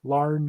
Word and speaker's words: Larn: his name properly I always it's Larned l-a-r-l-a-r-r-n learn okay learn yeah yeah but um but yeah